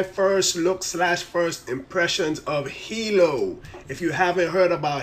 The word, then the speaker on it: Heello: Facebook killer but yeah it's called Hilo hilo.hi it pronounced Hilo and yeah this is